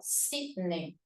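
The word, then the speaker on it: Sídney: sería el término syney si lleva la mayor fuerza de voz en la penúltima sílaba sidney profe es una grave entonces grave que termina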